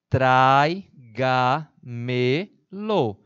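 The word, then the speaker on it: tráigamelo: Traiga-me-lo. Uma, duas, três. Uma quarta sílaba tônica, portanto, também uma palavra sobresdrúxula.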